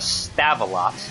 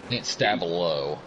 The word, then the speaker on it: Stavelot: yeah that is h stavelot i I do not think I pronounced that correctly but stavo stavo okay yeah that sounds more uh Belgian Connor in the pit